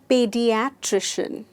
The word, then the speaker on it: pediatrician: Next शब्द है pediatrician. Pediatrician. The stress is on pediatrician.